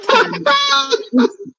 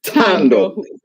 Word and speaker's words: Thando: it's Thando. It's Thando. The H is silent.